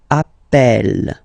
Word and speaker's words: Appel: the pronunciation of H you tend to pronounce it like e e really open that's the reason why you pronounce it Appel Appel okay Appel Appel